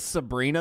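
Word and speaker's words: Sebhrenah: Whoa, that's Sabrina? That's how that's spelled?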